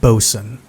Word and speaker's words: boatswain: Amos Hawthorne, a Boatswain (authors note-pronounced bosun), and young Thomas Penny, a deckhand.